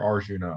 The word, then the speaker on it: Arjun: is it Arjun or Arjuna? I've heard it pronounced. Well, it depends if you want to be more like Sanskrit pronunciation, which would be Arjuna, or you want to